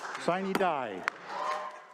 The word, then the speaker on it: sine die: Sine die. Well, a lot of cheering there, and if you're wondering, folks, the traditional Latin pronunciation would be sine die, without a day, signaling the end of